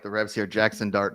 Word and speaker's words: Jackson Dart: Jackson Dart, not Jason Dart.